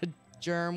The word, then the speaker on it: germ: It's a germ with a hard G.